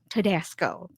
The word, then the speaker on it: Todasco: And so everybody, please welcome Mike Tedasco. Did I say it right? You got it. Awesome. I thought of Tabasco and then I'm like Tedasco.